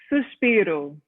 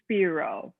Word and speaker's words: Suspiro: last element was like pronounce it for me because i'm just a boring white guy suspiro that one so that or the americanized version would be sphero so sphero that album